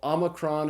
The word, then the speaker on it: omicron: it's the Omicron so Omicron is pronounced like this short o in the English word not after Omicron comes P